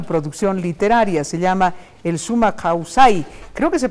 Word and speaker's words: sumak kawsay: Sí, en quichua es Summa Causai.